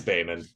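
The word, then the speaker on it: Behmen: Yeah, we start as always with Nick Cage, starring as Beeman. I can't remember how they pronounce it. It's Bayman.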